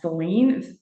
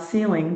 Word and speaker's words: Celine: I'm Celine, pronounce Celine and not ceiling.